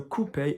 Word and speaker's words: couper: That's still used in French, couper. Couper, O-U here, not couper.